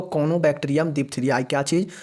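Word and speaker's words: Corynebacterium: तो कोनोबैक्टीरियम डिप्थीरियाई क्या चीज़, CORYNE, RY जो यहाँ पे है साइलेंट है, यहाँ पे कोनोबैक्टीरियम डिप्थीरिया लिखता है।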